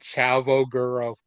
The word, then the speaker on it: Chavo Guerrero: Chavo Guerrero. They pronounced it correctly.